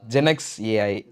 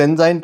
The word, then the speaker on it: ZenXAI: ஜெனக்ஸ் ஏஐ அது ரொம்ப சூப்பராக இருக்குது. சில பேர் ஜென்சாயின் ப்ரொனவுன்ஸ் பண்ணுவாங்க, பட் இருந்தாலும் பரவாயில்ல. ஜென்சாய் அதுவும் நல்லா தான் இருக்குது ப்ரோ.